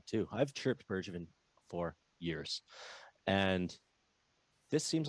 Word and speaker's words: Bergevin: have chirped bird uh i always say his name wrong too i've chirped bergevin for years and this seems like a really